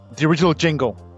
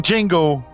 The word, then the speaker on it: Django: That's why it's Nicholas D, because the D in Django is silent.